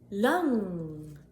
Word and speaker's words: lang: Lang, lang, short A. Ah, ah, ah. Lang, lang, long, lang.